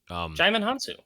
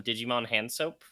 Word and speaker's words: Djimon Hounsou: And, I, as a joke, because I could not pronounce his name, I called him Digimon Handsoap for several years.